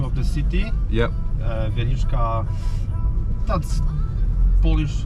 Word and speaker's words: Wieliczka: How how how how do you pronounce the salt mine? Wieliczka that's the name of the city. Yeah. Uh Wieliczka that's Polish name not a name and salt mine Wieliczka salt Okay.